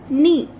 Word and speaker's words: knee: Next is knee. नी में आपका के साइलेंट है तो सर्कल के.